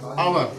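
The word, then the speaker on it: hour: इसके कुछ एक्सेप्शन भी हैं, अपवाद हैं, जैसे कि इसमें लेटर आया है एच, लेकिन उसका प्रोनाउंसिएशन आ से आ रहा है, आवर। एच उसमें साइलेंट, एच उसमें साइलेंट है।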